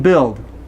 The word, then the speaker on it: build: No oo in build. Okay? Here, this word is buy, and I don't know why the U is there. I don't know why the U is in build, but we don't pronounce it.